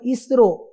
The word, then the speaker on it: ISRO: बना दिया ISRO and we now pronounce it as a single word, ISRO.